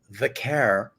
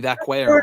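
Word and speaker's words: Vaquer: Um, Graham, to your point, Stephanie Vair, yeah, as we can pronounce properly now, more than Nikki Bella, who called her Stephanie Vqu, Brian and I are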